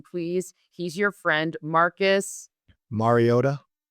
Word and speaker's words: Mariota: He's your friend, Marcus Mariota.